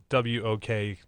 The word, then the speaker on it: Wachter: It's phonetically, it's WOKTER. So Wachter.